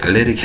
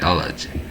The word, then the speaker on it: allergy: 이게 발음할 때 알레르기 아니에요. 알레르기 하지 말고 allergy라고 하세요. allergy.